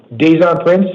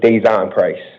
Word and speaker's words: Deon Price: Daison Prince to the podium and Hector Martinez to the chair, please. You're pronouncing it the whole name wrong. It's Deon Price.